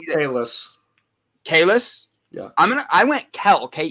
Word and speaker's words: Kellis: Very good, and it's Kellis.